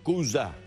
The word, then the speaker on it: Kooza: espectaculares, se está presentando con su espectáculo Cuya. Así se pronuncia.